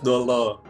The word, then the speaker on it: Dolah: Yang benar itu tetap untuk kalau di aksara Thailandnya sih tetap bacanya Elias. Elias Dolo.